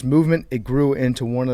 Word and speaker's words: MVMT: clean original design that we love mvmt is pronounced movement it grew into one of the fastest growing